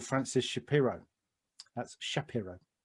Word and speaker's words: Shapiro: developed by a lady called Francis Shapiro that's Shapiro pronounce it properly and what she noticed is that